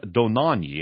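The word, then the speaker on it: Dohnanyi: Now, this article from Weltwoche is by Johannes von Donanyi, and I may be mispronouncing that, D-O-H-N-A-N-Y-I.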